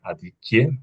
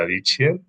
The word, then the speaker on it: Adichie: Me encanta cómo pronuncias, después de varios años de vivir en Italia, Adichie en vez de Adichie. Esas Me lo estaba PH pensando antes. me encanta. Claro, como gnocchi, Adichie.